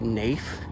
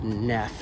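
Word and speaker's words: Naef: And the street crossing here, I've always called it Nafe, but I'm pretty sure it's Neff is how it's pronounced.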